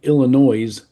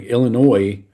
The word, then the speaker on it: Illinois: Number 9, Illinois at number 19, Indiana. Do you love it when people say Illinois and pronounce the S on the end? Yeah, it's funny. Anyway, Illinois is favored by 3.5, over under a 48.5.